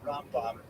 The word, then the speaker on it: Rambam: distinguish the difference because we say around the body with the accent on the last syllable and ROM bomb the accent on the first syllable that distinction disappears among